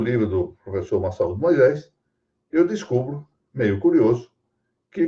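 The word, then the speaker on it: Massaud Moisés: Ela seguia um livro de literatura muito bom de um professor chamado Massaú Moisés, que alguns pronunciam Massou Moisés, professor da Universidade de São Paulo.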